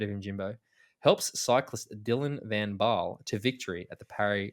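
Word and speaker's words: Dylan van Baarle: good with the pronunciation have i butchered his name dylan vambal no no you nailed that um perfect it's uh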